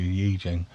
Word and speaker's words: I Ching: And the I Ching, correct pronunciation, my apology, I Ching, Book of Changes, 1000 BCE, before Common Era.